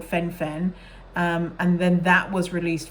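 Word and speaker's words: phen-fen: o word epidemic um so Fen Fen Fen uh by the way it's spelled p-h-e-n Dash Fen um and the thing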